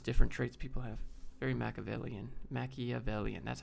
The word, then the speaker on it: Machiavellian: Very Machiavellian.